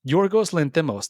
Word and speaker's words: Yorgos Lanthimos: Oh God, here we go with my pronunciation. Your ghost Lanthimos. Lanthimos, Yorgos Lanthimos.